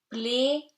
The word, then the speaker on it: plaisir: Plaisir. You pronounce the R because it's not after the E, S becomes Z between two vowels, two E's, and AI gives you E, open E, so avec plaisir.